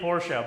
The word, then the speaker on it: Porsche: It's like it's definitely Porsche, but cigarette or cigarette.